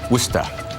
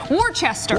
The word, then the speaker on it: Worcester: time in worcester massachusetts or as some of the locals say wustha or some of the those of us who had never heard of it you know growing up said warchester worchester of course hey thanks